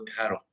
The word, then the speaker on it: de Haro: Maestro, ¿su apellido se pronuncia de Aro o de Jaro? De Aro. De Aro, ¿verdad?